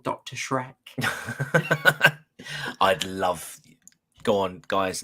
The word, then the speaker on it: Schreck: Shrek basically yeah um the S on the end because it's uh the genitive form sorry genitive form there so it should be anyway let's not sidetracked into German grammar again so sorry that's pronounced Shrek's Shrek oh yeah okay